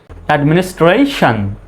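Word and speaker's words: administration: আই ও এন সন শব্দের শেষে যদি টি আই ও এন থাকে তাহলে সন উচ্চারণ হবে শব্দের শেষে টি আই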